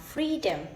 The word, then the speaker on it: freedom: So let me take an example when I pronounce freedom. So free is louder and longer than the freedom.